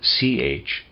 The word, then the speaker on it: Chthonian: Readers aside, Chthonian is spelled C-H-T-H-O-N-I-A-N, Chthonian.